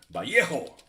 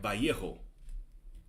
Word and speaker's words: Vallejo: Vallejo. That's how you say it, folks. 2 L's is a Y. Vallejo.